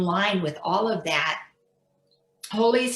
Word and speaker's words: Holi: And then I discovered Holy, which is really in line with all of that. Holy is spelled Holi, and it takes place on the first full moon in March.